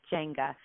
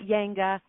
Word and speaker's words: Jenga: Like very phonetically how it's spelled, Jenga. Not Yanga, not Jenga, not Jenga.